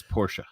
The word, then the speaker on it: Porsche: It's Porsche.